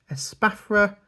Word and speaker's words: Espathra: Esparta. Again, is what I go with. I have heard different pronunciations. Esparta. Espathra. I go with Esparta.